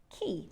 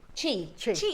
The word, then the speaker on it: chi: Is it ki? Do you pronounce it? Chi chi.